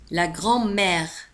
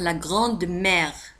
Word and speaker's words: grand-mère: La grand-mère. La grand-mère. في الحقيقة يجب أن تنطق la grande mère، ولكن لتسريع الكلام نسمع la grand-mère.